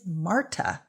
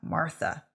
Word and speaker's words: Marta: of my given name tis marta not martha no h therein how dare thee decree